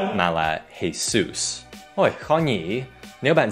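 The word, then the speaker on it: Jesús: Còn tên của cầu thủ bóng chày này không đọc là Jesus mà là Jesus.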